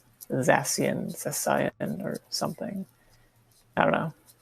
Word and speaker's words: Zacian: I guess maybe Zacian. Zamazenta. Bizarre. The first one. I don't think that's a hard C. At the very least, so it's like Zacian, or something.